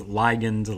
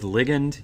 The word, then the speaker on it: ligand: Now this word is pronounced, I've heard several different pronunciations, ligand, ligand. I'm going to go with ligand.